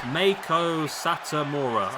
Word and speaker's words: Satomura: It's pronounced Meiko Satomura. Okay. I know. Meiko Satomura. Satomura. Not Mura. Mura.